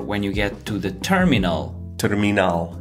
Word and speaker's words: terminal: And in this case, the spelling of terminal is exactly the same, but as you can hear, the pronunciation is tricky. Terminal.